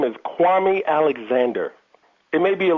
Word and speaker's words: Kwame: Look, people, it's Kwame Alexander. Don't forget it. Kwame. This is a very popular name pronunciation.